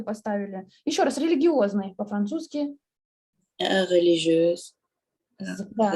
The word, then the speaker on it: religieuse: Religieuse. Да, религиоз. Говорили религиоз, ну там Г произносили.